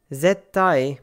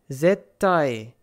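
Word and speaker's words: ぜったい: Zettai, zettai. Gakko, gakko. You basically pause on the first consonant and then continue with the second.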